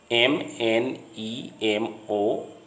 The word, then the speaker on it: mnemonic: MNEMONIC. The M in the beginning of this word is silent, so it is pronounced mnemonic.